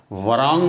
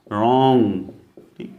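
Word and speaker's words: wrong: यह का या right W आर ओ एन जी तो यह वांग नहीं होगा यह बकायन रॉन्ग यहां पर व्यस्त है यहां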